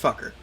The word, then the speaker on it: Fuqre: It's spelled Fuqre, pronounced fucker.